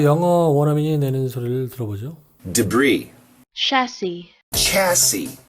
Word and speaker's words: debris: Debris, chassis, chassis, rendezvous, Arkansas, bourgeois, viscount, Louis, Louisville, Louisville, Louisville, 이건 자네라는 말이죠. S가 발음되지 않는 그런 말이기 때문에 debris가 아니라 debris라고 합니다.